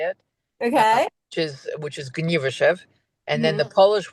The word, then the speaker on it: Gniewoszów: How do you pronounce it? Anita, would you like to do the honors? Gniewoszów. Okay. Gniewoszów.